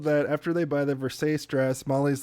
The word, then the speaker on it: Versace: next scene is them going to buy the Versace dress, Yeah. and it's revealed. It's pronounced Versace, Jason.